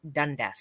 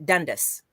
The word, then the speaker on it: Dundas: and cities across Canada have at least one Dundas Street Dundas right Dundas Toronto has a Dundas